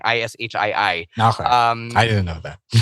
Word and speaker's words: Ishii: It's Ishii, not Ishii. So no, even people on AEW TV get it wrong. It's actually Ishii. It's just parang ba anglicized kaya ganun yung spelling, Ishii.